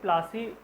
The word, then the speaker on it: पलासी: देखिए, प्लासी, battle of प्लासी जो हम लोग पढ़ते हैं, एक्चुअली में इसका जो प्रोनाउंसिएशन है वो पलासी है, प्लासी है ये।